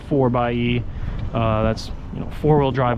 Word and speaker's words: 4xe: can see right here 4xe but it is pronounced 4 by uh that's you know four-wheel drive electric really like